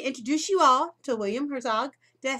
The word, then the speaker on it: Herzog: So I want to introduce you all to William Herzog. Did I say it right, William? Excellent. Yeah, never always. It's German 5 generations ago, but it's all anglicized and Americanized.